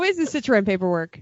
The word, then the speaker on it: Citroën: how is the Citroën paperwork?